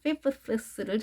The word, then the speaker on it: fifths: 9 and 3/5 9 and 3/5 자, fifths를 정확하게 발음하시기 바랍니다. 뜨 하시고 쓰 하셔야 됩니다.